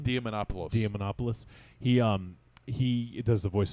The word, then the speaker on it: Diamantopoulos: Diamantopoulos.